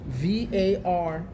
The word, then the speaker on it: Varnai: Spell it for me. It's Varnai Shora, N-A-I.